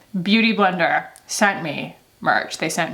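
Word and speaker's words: Beautyblender: i love and also booty blender i'm sorry they sent me merch i should pronounce it properly beauty blender sent me merch they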